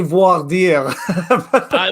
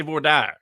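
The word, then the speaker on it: voir dire: in the comment section i think we say voir dia that's that that's uh that's the french that's probably the proper pronunciation but in tennessee we say vordar so the uh so it depends on where you're from of course because it's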